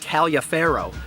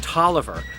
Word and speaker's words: Taliaferro: One of the most frequently mispronounced terms in terms of people would definitely have to be what looks like Taliaferro, but is in fact Tolliver, a prominent officer during